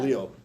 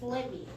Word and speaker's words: Lev: It's also Lev. It's not Leo.